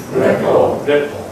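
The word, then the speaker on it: rapport: 이거 불란서 말인데, 이거 T자 발음을 안 합니다. 그래서 여러분 따라해 보시면 레포.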